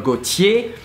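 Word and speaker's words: Gaultier: you see Jean Paul Gautier kouchi the last R is not pronounced so this one is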